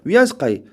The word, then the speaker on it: 위안스카이: 위안스카이. 사람이 이것도 원세계라고 하는데 같은 사람이에요. 원세계라고 하는 사람을 중국어로 읽으면 우리 한문을 읽으면 원세계, 중국어로 읽으면 위안스카이라고 발음합니다. 그래서 뭐 병행하지만 교과서에서는 위안스카이라고 해요.